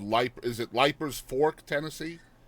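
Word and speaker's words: Leipers: And so, I mean, you were you moved quite young to a place called Le is it Lipers Fork, Tennessee? Leaper. It's pronounced Leapers.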